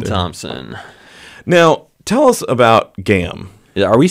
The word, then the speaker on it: GAAM: And it rhymes with DAM. Or spam.